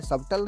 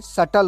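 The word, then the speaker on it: subtle: सटल means होता है हल्का, ये सबटल नहीं होता, ये सटल होता है।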